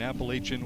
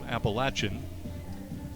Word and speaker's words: Appalachian: I can never remember which is the preferred pronunciation, Appalachian or Appalachin. And both are sometimes referred to as preferred. So whichever you prefer, go with that in your mind.